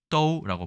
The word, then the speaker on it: 都: 도읍지를 얘기할 때 쓰고요 보통 모두 다 부사로 쓸 때는 떠우라고 발음합니다 중국어를 조금이나 배우신 분은